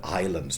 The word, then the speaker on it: island: uh take the word islands today and why is there an s in it island that's never been pronounced and it's even wrong